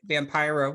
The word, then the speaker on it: Vampira: I actually didn't even know who Vampira, yes, said it right, Vampira was.